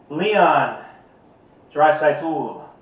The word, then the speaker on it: Leon Draisaitl: Versus number 16, Leon Draisaitl.